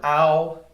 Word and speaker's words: ao: This last pinyin word in the A category is the word ow. It's like the English ow, like ow, that hurt.